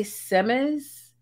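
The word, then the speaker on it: Semmes: be quite frank um it's not spelt like oj simmons is spelled oj that i say semes because it's spelled s-e-m-m-e-s so yeah it's spelled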